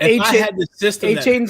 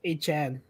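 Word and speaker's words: Achane: And A-Chain's last name is actually pronounced A-Chan.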